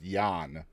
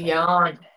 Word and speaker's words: Jan: correctly correct but uh Jan is actually pronounced Yan where they come from Yan yes oh okay see